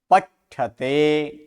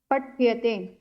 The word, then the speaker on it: पठ्यते: पठ्यते। पठ्यते। ट नहीं, ठ का उच्चारण कीजिए। क्यों ट और ठ दोनों एक जैसे बोल रहे हैं? ये ट पठ्यते।